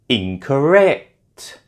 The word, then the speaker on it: incorrect: And finally, incorrect. Incorrect, can you hear, is stressed on the third syllable.